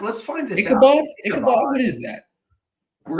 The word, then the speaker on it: Ichabod: They're the Washburn Ichibots? I do not. I can't say that I do. Yeah. Ichibots? Ichibots? What is an Ichibot? It's an Ichabod. Let's find this out. Ichabod?